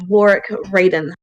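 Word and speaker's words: Warrick Raden: This individual's name is Warwick Raiden. Warwick Raiden. You look at this guy and be like, can you spell that?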